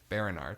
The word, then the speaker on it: Baranar: He is a cleric of Baranar. Is that how you say it? True Silver? Yes. Baranar, True Silver.